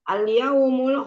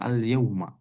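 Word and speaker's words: اليومَ: Jadi ulang ustaz alyaumul khamis ustaz hari ini Kamis gitu ustaz. Hari ini sekali lagi hari ini itu bahasa Arabnya adalah alyauma bukan alyaumu alyaumal alyaumal khamis alyauma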